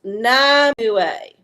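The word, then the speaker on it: Nimue: Uh, Pronounced Namue.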